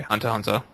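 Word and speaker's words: Hunter × Hunter: Hunter x Hunter does not deserve that, and by the way, we should not pronounce the X. Okay, Hunter x Hunter.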